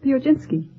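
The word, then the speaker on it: Piechocinski: with you uh Charlotte uh how do you pronounce your name the oginski would you mind spelling it p-i-e-c-h-o-c-i-n-s-k-i not pronounce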